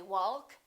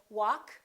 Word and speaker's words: walk: adjective all right silent l we don't say walk and talk we say walk talk could would should silent L half we